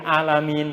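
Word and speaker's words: العالمين: Alhamdulillahirabbil alamin, tidak seperti itu. Alhamdulillahirabbil ada panjang sedikit, ada jeda untuk alif. Alamin mim terus gandeng ke ya, gandeng ke nun.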